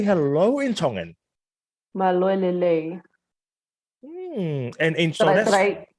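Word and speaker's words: Mālō e lelei: Maloelele. And in Did I pronounce it right?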